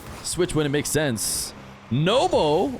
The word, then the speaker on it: Nwpo: Nobo or no Nou um is how he has declared his name to be pronounced. He mentioned it in the interview after winning at Raleigh. Uh I've been calling him Nupo for a long time.